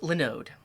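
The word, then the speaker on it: Linode: to look at it it's pronounced lenode like linux that makes sense mcat thank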